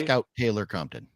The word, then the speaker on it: Scout Taylor Compton: Scout Taylor Compton.